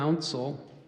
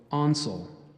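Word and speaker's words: auncel: asking for payment and there's an alternate pronunciation so I gave you an outsole there's also on soul Council o u n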